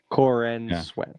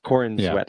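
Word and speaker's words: Corenswet: It is spelled C O R E N S W T. Corin sweat. Corin sweat.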